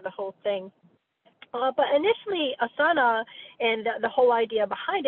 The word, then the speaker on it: asana: But initially, asana and the whole idea behind it, the word asana, actually asan in Sanskrit, that A is actually silent, but who knows what that means, so we pronounce it, means a comfortable seat for meditation.